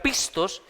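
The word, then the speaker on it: πιστός: viene de una palabra griega que que se pronuncia pistos que significa digno de confianza Dios nos ha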